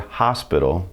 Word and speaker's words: hospital: H doesn't have any sound in Spanish. It is silent. So when you see the word hospital in English and you want to convert it over to Spanish, the H still stays there, you just don't pronounce it.